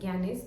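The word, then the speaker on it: Gagné: theory of learning गगने वैसे इसकी spelling है जी ए जी एन ई बट जी is silent so it's pronounced as गनेस theory of learning इसमें नेट में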